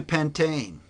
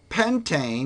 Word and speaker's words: pentane: - two four dial remember that bit about silent e's earlier this e is silent in pentane if it's followed by a vowel well this DS a consonant so I didn't drop it or - it gets dropped as long as it's silent you don't drop Penta